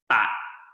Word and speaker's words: Pak: I'm Pak, and the pronunciation in Cantonese is Bat.